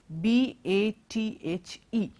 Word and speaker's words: bath: So here among these four words, only the word bath has a th sound coming in.